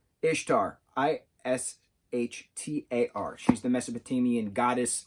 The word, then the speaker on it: Ishtar: i feel like an idiot bear with me ishtar ishtar ishtar i-s-h-t-a-r she's the mesopotamian goddess of love and